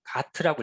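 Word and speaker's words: GATT: 다음은 관세 및 무역에 관한 일반 협정, 가트라고 읽거든요.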